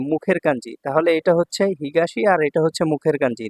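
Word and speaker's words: 東: দেখুন 56 নাম্বার কাঞ্জিটা হচ্ছে হিগাসি। হিগাসি অর্থ হচ্ছে পূর্ব। এটা হচ্ছে এর জাপানিস উচ্চারণ আর চাইনিজ উচ্চারণ হচ্ছে তো।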